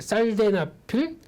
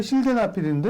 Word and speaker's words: 실데나필: 뭐 비아그라 성분 중에 살데나필, 네. 제약바이오 얘기할 때는요, 네. 좀 어려운 용어들이 많다 보니까 발음이 새도 좀 이해를 해주십시오. 원고에는 실데나필인데 살데나필이에요?